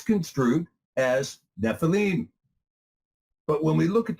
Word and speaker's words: Nephilim: There were Nephilim in the earth in those days, and also